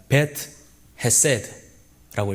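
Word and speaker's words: בית חסד: 네, 이 베데스다는 히브리의 원어로 읽으면 이렇습니다. 베트 헤세드라고 읽습니다. 네, 두 단어가 합쳐진 단어인데 여기서 베트는 집이라는 단어고 헤세드는 여러분이 잘 아시다시피 은혜, 자비, 긍휼이라는 단어입니다.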